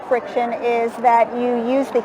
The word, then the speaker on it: Frixion: How do you pronounce that word? Frixion.